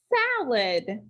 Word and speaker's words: salad: to match this picture so we need to make that a say ah salad salad that first syllable is accented we do have some obvious coding for number 20.